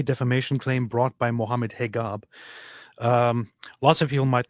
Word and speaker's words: Hijab: Um, it's because this is so it is still hijab, but this is usually how Egyptians um spell it or it's it's a common thing of uh in Egyptian Arabic dialect to use the G instead.